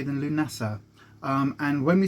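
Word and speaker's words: Lughnasadh: easier to say than lunasah and when we say lynessa i'll put it on screen because lunato is actually spelled very very different to how it's pronounced um and it's actually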